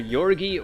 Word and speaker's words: Jorge: this one over here Jorge I used to pronounce that name the same as George but recently found out that it was you're either yorgi or yoga you're busy spell